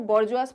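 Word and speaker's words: bourgeois: इसको बॉर्जुआस भी बोलते हैं और डिफरेंट मतलब अलग अलग सभी लोग बोलते हैं, लेकिन इन जनरल ये जो टर्म है इसको बॉर्जुआस प्रोनाउंस किया जाता है, ठीक है, जिसे हम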